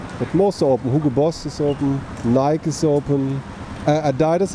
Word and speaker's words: Adidas: Adidas is closed, or Adidas as German would pronounce it.